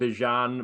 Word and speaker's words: Bijan: Bijan, is that how you pronounce his name? Bijan. Bijan is real.